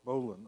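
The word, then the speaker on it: bowline: name but in English bull the bowl and pronounce Bolin and I'm sure the knot has a Japanese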